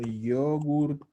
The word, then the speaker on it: yogurt: Ho mangiato uno yogurt alle fragole. Comí un yogur de frutillas. De frutillas. Claro. Ho mangiato. Uno yogurt alle fragole. Yogurt. Sí, se escribe así y cargan la O.